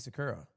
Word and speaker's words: Sakura: I mean, yeah, I think Sakura because it's not like uh an emphasis language. So, you don't you don't go Sakura or Sakura. It's just Sakura.